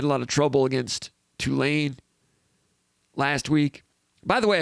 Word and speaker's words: Tulane: lot of trouble against tulane last week by the way i heard i heard more people last week referring it referring to tulane as tulane tulane like a two-lane highway tulane has tulane been